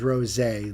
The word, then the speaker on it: Rosé: Like Rose A, capital A. These artists, they like to throw in all kinds of little things in their names and then tell you it's pronounced, Beverly. And meanwhile, it's like 16 letters long and umlauts on every... A big A. So it is Rosé, like Pan said.